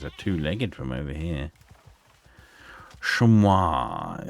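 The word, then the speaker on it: chamois: Shamua is what it's called. to people that aren't American. I guess that's how you say it in French. And as it's a French word, seems apt.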